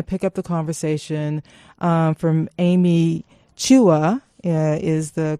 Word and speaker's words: Amy Chua: we're going to pick up the conversation from Amy Chua is the correct pronunciation of her name just listening to the